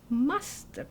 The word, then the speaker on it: mustard: So he said, it's mustard, like custard.